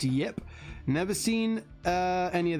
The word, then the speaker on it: Ip Man: uh yip man films i think it's written ip ip but it's pronounced yip never seen uh any